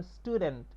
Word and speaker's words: student: যেমন স্টুডেন্ট, STUDENT, তো এখানে স্টুডেন্ট, এখানে কিন্তু টি গুলা টি এর মতো উচ্চারণ হয়েছে, ঠ এর মতো হয়নি।